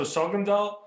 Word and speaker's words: Sogndal: you were born in shogendal mistake for the pronunciation yeah okay yeah so sogandal and i kind of looked it out on